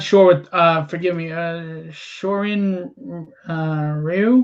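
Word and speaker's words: Shorin-ryū: Shorin Ryu. Shorin Ryu. Ryu. Okay, I didn't know how to pronounce it.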